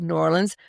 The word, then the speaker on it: New Orleans: And you can tell I love New Orleans because I know how to say it like with marbles in your mouth. New Orleans. It's very good. It's one word. It's not two words.